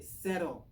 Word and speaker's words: Cero: So yeah, but Cero, we call it Cero, but it's actually Cero. Cero as in zero in Spanish.